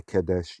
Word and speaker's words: Kadesh: So at Kadesh, or you can just say Kadesh using kind of the Israeli pronunciation today.